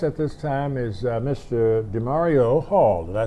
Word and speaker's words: Demorio: DeMario Hall.